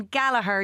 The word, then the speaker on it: Gallagher: Laughter Lounge MC Gallagher, don't pronounce the G.